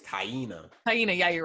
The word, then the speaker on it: Taina: say her name again tonight i think it's tyina hyena yeah you're right you're here taina he's so he admitted that he cheated on